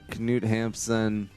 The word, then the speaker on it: Knut Hamsun: there was a Knut oh that's not a silent K yeah oh not Knut Hamsun alright so Knut Hamsun see now you get